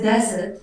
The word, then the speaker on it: desert: Yep, and lots of people mispronounce these two, don't they? What's the difference between those two? Well, there's desert and there's dessert.